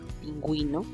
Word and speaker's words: pingüino: en las siguientes ocasiones, para indicar que hay que pronunciar la vocal U en la combinación de ge y gi, por eso es que suena cigüeña, pingüino, ¿sí?